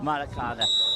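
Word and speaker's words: Maracanã: How do you pronounce it? Americana. Maracada. Maracana.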